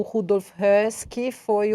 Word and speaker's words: Höss: Porque aparece esse sujeito, o Rudolf, como é que é a pronúncia em alemão? Rudolf Höss. Höss.